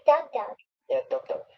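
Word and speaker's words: DougDoug: Douglas Scott, how do you pronounce that? Reading? Like Doug Doug.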